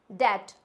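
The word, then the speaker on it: debt: हम डेप्थ बोलते हैं लेकिन जो भी डेप्थ बोलते हैं तो यह गलत होता है इसको डेप्थ ना बोलके इसको इंग्लिश में हम जो प्रोनाउंस करते हैं इट्स ट नॉट डेप्थ क्या होता है ये डेट आप लोगों को भी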